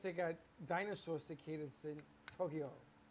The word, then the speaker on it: Tokyo: learn how to say tokyo it's not tokyo not tokyo what is it tokyo tokyo tokyo tokyo it's two syllables not three they were talking about